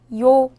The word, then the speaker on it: 요: 요. 요는 먼저 이를 소리내다가 바로 이어서 오를 소리내며 발음합니다. 이와 오를 순서대로 빠르게 말해요.